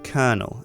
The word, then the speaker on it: colonel: spelled colonell but it's pronounced kernel as if it's k e r n e l it's a bit weird